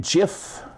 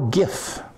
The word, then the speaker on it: GIF: than GIF or GIF some people pronounce it gif which I guess Technic is probably more correct but I got to pronouncing it gif a long time ago and people say but that's peanut butter yes I like peanut